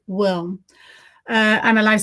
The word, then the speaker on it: WILM: I am CEO, co-founder, and daily manager of the European organization Women in Live Music, which I from now on will pronounce as WILM.